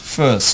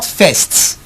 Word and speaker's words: first: invited by Louise our first first not fests not Faust I repeat f irst is not forced is not tests is first first is somewhere between the